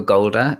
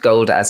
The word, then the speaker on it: Goulder: familiar this is michael golda it was actually it's pronounced gold as in as in shoulder michael golda i think